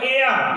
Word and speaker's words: heir: से, ये आवर है, हावर नहीं है, यह साइलेंट है। अब है एयर, HEIR, एयर, एयर माने उत्तराधिकार, है ना, एयर में क्या होगा, उत्तराधिकार।